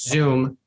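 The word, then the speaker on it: Xoom: at this from a mobile-based perspective and there's zoom which is spelled x-o-o-m uh that's another big competitor and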